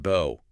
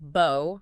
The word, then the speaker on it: bow: It could be pronounced bo rhyming with go. That's the verb meaning to bend at the waist like showing respect. And it can be pronounced bow rhyming with now or cow. That's the noun like a decorative knot on a present and what you shoot arrows with.